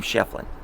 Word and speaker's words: Schieffelin: If you go to Tombstone, they pronounce his name Schieffelin.